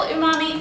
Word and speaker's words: umami: Umami is spelled u m a m i Umami and it's it's a Japanese word and it means Savory or brothy or meaty so now